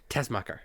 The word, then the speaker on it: Tessmacher: He and Eve Tech Master or Tech Master? Which is it? Tessmacher. Tessmacher. Yeah. Okay. Yeah. I've heard it pronounced one way.